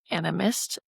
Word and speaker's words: animist: doing, can you sum up to what is animist branding in kind of simple words? And also, you might need to correct my pronunciation on that.